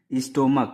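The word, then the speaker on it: stomach: स्टोमक है। स्टोमक के भी अंत में सी एच आया है जिसका उच्चारण क है।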